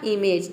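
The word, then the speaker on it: image: होता है चित्र यहां पे देखिए इमेज में ये आई एम का हो जाएगा पूरा म इम हो जाएगा और यहां पे जे ई ए ये हो जाएगा आपका एज ठीक है ए का ए हो जाएगा और जी का हो जाएगा ज ठीक है इ साइलेंट है क्योंकि वर्ड के अंत में आया है ये हो गया आपका इमेज ठीक है इमेज मतलब चित्र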